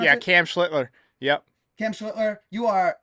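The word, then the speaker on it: Schlittler: Schlitler. Is that how you pronounce it? Yeah, Cam Schlitler.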